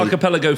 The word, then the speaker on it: archipelago: I can never pronounce the Ghost Archipelago. Archipelago.